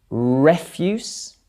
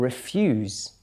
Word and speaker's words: refuse: or film or whatever refuse and refuse very different meanings refuse is another word for rubbish okay and refuse is you deny someone something okay refuse refuse object